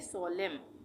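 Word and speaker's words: solemn: इसको हम पढ़ेंगे सोलम यहां पे भी इस वर्ड में एम के बाद लास्ट में एन आ रहा है वर्ड के लास्ट में एम के बाद एन आ रहा है तो इसको भी हम पढ़ेंगे सोलम एंड साइलेंट सोलम का मतलब होता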